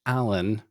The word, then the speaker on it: Alain: like, well, it's actually Allan. You know, the pronunciation in French is different and so the I you have to drop the I but anyway.